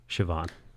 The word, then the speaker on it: Siobhan: say because it's like like you ever see how Siobhan is spelled that like you know irishly versus you know like Siobhan phonetically does not look the way it's meant to look it looks like CEO Bond Siobhan or uh perfect what's the